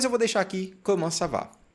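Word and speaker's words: ça va: tenho que fazer o biquinho sav sav com savá que significa como vai eu poderia tirar essa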